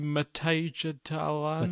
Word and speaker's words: Midtjylland: John, you'll be able to tell me the pronunciation of the Dutch team, FC Midtjylland.